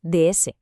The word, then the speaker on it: DS: En francés, si pronuncias esas dos letras seguidas, D y S, suena exactamente igual que DS, que significa diosa.